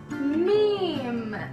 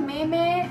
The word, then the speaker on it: meme: the last words is this yeah it's a meme it's not a Mimi it's the meme the most people do pronounce it as right but it's such a